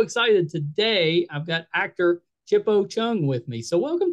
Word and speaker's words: Chipo: With a Shona accent, I would say Chipo. But I don't pronounce it that way. I say Chipo.